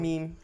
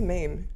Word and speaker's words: meme: Meme. Do I say it wrong? I say mame. Is it meme? That is way wrong.